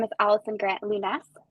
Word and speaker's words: Lounes: name is Allison Grant Lunas so it's a little bit of a French pronunciation um I had I